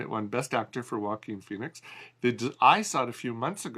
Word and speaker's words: Joaquin Phoenix: You said it right, starring Joaquin Phoenix.